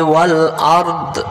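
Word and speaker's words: والأرض: ওয়াসিআ কুরসিয়্যুহুস সামাওয়াতি ওয়াল আরদ। ওয়াসিআ কুরসিয়্যুহুস সামাওয়াতি ওয়াল আরদ। হ্যাঁ, আরদা আমরা অনেকে পড়ি ওয়াল আরদা, ওয়াল আরদা।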